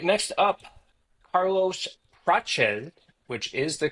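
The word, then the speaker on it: Prates: All right, next up, Carlos Prache, which is the correct pronunciation of his name.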